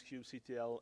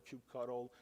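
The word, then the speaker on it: kubectl: I mostly don't use Cube CTL anymore uh for most of the things actually I started to forget how to do things with uh Cube CTL or cube cutle if you say it wrong uh so Cube C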